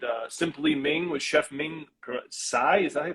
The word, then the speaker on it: Ming Tsai: right here with uh simply ming was chef ming sai is that he pronounced that yeah ming tsai ming tsai is a boston legend so he owned a